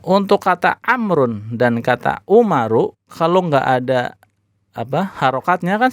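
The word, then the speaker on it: عمر: Ain, mim, ro bacanya Umaru. Ya, bacanya Umaru.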